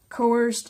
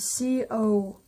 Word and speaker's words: coerced: Coerced labor, coerced is spelled C-O-E-R-C-E-D. I'm gonna pronounce it coerced.